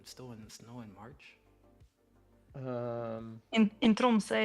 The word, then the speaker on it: Tromsø: But if finances wasn't an issue, would you be down to go to Trosmo? Is that how you say it? Where? Tromsø.